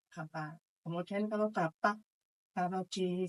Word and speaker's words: apa: Yang Jogja itu menggunakan vokal o ya, apa jadi opo, walaupun tulisannya tetap apa, dibacanya pelafalannya opo. Tapi kalau di Banyumas itu tetap apa.